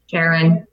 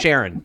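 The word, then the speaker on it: Charon: there's Nix Hydra um Karen I say that Sharon is I pronounce that Sharon yep sure hi and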